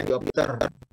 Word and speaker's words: dioptri: Ada yang menulis dioptri, tapi bacanya diopter. Ya kan? Kalau kita menulis bahasa Inggrisnya tabel. Table, kan kita tidak baca tabel, tabel, kan gitu. Jadi tulisannya dioptri, diopter, tentu begitu.